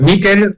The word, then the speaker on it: Mikel: Bueno, me suelen llamar Mikel, pero también Michael Mikel. Michael está bien.